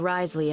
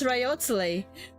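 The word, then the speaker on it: Wriothesley: Fortress of meped I'll make sure to give Risley a heads up about it Risley oh no wonder you guys said that it's pronounced as rizzler I pronounced as riotly but then you guys are like Risley I'm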